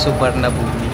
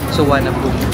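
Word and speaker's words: Suvarnabhumi: Pag binasa kasi natin siya is Subarumi pero ang tamang pronunciation ko is Suanabumi airport.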